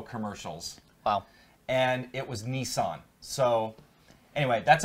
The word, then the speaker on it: Nissan: oh and yes it's Nissan here by the way not Nissen we pronounce it Nissan in the States and it's been like that for a long time we know you pronounce it Nissen in other parts of